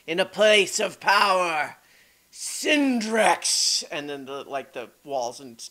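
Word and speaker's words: Cindrix: It's with a C. Sin and an X. Not CK, but yes. C-I-N, like cinder. Well, that makes sense.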